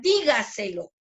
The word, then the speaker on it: dígaselo: Entonces decíamos última, en este caso tenemos la palabra dígaselo, ¿no? Dígaselo, dígaselo. ¿Dónde lleva la mayor fuerza de voz? En di, ¿cierto?